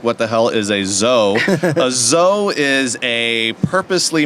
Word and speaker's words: DZO: So we are Studio Zoe. DZO is how most people read it, but the D is silent.